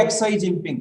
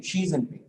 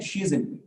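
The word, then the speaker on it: Xi Jinping: ठीक है, एक्स नु शी कहा जाता है, एनु ए नहीं कहांगे एक्स आई जिनपिंग, शी जिनपिंग, एंड the pronunciation की है शी जिनपिंग।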